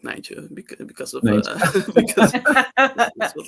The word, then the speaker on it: Nijntje: Although we in Dutch he's called Nijntje, which is like the Dutch word for rabbit is konijn, and then like Nijntje is like a small rabbit. Nijntje. Okay. Like I used to have